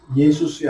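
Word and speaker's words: Ἰησοῦς: 예수스야. 한번 따라해봐. 예수스. 이걸 하면 이에수스야. 원래 예수님은 천천히 발음하면 뭐라고? 예수스야.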